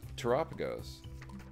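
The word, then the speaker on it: Terapagos: greedy ninja and uh tagos pronounced like Galapagos all right let's get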